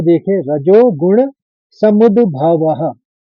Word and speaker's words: समुद्भवः: रजो गुण समुद्भवः। समुद पहले दो आएगा फिर भवः।